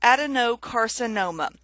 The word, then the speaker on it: adenocarcinoma: So I've stressed that no a little bit more than the other words.